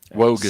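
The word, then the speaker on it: Nwogu: Spelled with an N. Wogu. Silent N.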